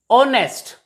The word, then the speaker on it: honest: as are not har honest not honest h is also silent here and h e i